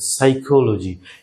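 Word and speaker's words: psychology: সাইকোলজি, এখানে কিন্তু P silent হয়ে গেছে।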